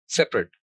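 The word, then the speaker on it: separate: तो यहां पर तीन सिलेबल्स हैं, से प रट। तो क्योंकि तीन वाउल साउंड है, से प रट, तो तीन वाउल साउंड होने की वजह से इस वर्ड के तीन सिलेबल्स हैं। तो जो पहला सिलेबल है सेपरेट, से, ये प्राइमरी स्ट्रेस्ड है, यानी इस पर सबसे ज्यादा फोर्स लग रही है और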